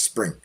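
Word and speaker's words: Xpring: have a new initiative called Xspring, pronounced Spring.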